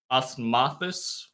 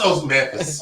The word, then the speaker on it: osmanthus: So by steeping dried osmosis flour, that's definitely not how that's pronounced. Oh, we should have had Dave. I've only ever read. I've never heard. That's osmanthus. Osmanthus.